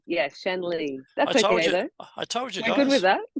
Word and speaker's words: Shanley: the company name is AIA and my is pronounced Shan Lee Yes Shan Lee that's I told you guys good with that